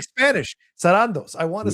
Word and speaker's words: Sarandos: I keep forgetting it's Sarandos. I always say Sarandos. Sarandos. Sarandos. I know. I keep saying it cuz I want to say it like Spanish. Sarandos.